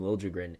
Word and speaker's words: Liljegren: And they do call him Liljegren in San Jose. He wanted it requested changed. to have the J pronounced.